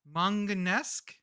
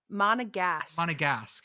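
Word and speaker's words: Monégasque: He is, let me pronounce it, Manganesque? Nope, not close. Not even close. That means he grew up in a manga novel. Okay. Mm-hmm. What I'm looking for here? What's the demonym? Monegasque, yes.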